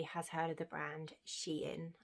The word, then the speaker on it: Shein: I don't know, I'm guessing everybody has heard of the brand Shein. I call it Shein. I've always called it Shein. Apparently it's called Shein. I've been pronouncing it wrong the whole time.